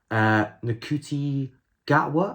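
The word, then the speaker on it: Ncuti Gatwa: release, we have the 14th Doctor, and it's Nakuti Gatwa, I believe that's how you say his name, from Sex Education.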